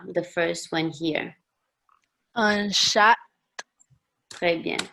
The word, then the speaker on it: chat: Un chat. Très bien. Chat. On ne prononce pas le H.